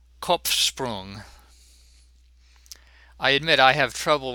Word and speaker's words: Kopfsprung: In the word Kopf, both the P and the F are pronounced. I told you every letter counts, and the P seems to interfere somewhat with the sh sound following it.